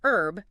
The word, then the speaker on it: herb: aluminum and don't forget herb British speakers pronounce the h but Americans often drop it so many examples okay